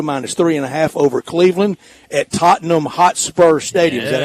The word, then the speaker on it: Tottenham Hotspur Stadium: Minnesota minus 3.5 over Cleveland at Tottenham Hotspur Stadium.